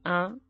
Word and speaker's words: un: Say the word un while maintaining that gentle nasal airflow. It is almost like you are humming while pronouncing the vowel.